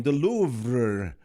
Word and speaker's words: Louvre: The Louvre in France. That's how it's pronounced, right?